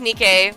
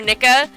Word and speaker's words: Nikke: This is Nikke or Nika. It depends on how you say it. Some people say it different.